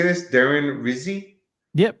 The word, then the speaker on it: Rizzi: Darren Rizzi Yep, Rizzy, yeah.